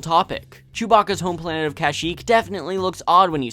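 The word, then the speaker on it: Kashyyyk: it's spelled on pronunciation there are only two two ways to say it but they are both very different kashik is the most widely accepted movie accurate version but the first time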